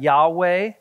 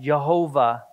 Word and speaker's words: Yahweh: some people pronounce that Yahweh some people pronounce that Jehovah and the same idea